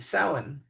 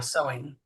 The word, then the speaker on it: Samhain: And by the way, the Morrigan is also associated with Samhain or Halloween Right.